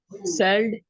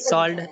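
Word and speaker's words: sold: सेल्ड, SELLED। नहीं, और कोई ट्राई करना चाहता है? सॉल्ड, सॉल्ट, हाँ, सॉल्ट, सॉल्ड, SO। हाँ, एल गुड। लेकिन इसको प्रोनाउंसिएशन कैसे करेंगे करण और रिजवाना? सॉल्ड नहीं, सोल्ड।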